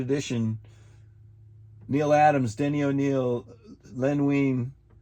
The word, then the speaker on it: Len Wein: Neil Adams, Denny O'Neil, Len Wein. I said Lean Wein, but Len Wein.